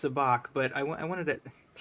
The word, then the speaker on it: Sabacc: Uh, I know it's pronounced sabach, but I I wanted to it's just kind